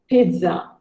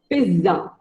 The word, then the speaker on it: pizza: Who doesn't love pizza? But most of us call it as either pizza or pizza. But the actual pronunciation of the word is pizza.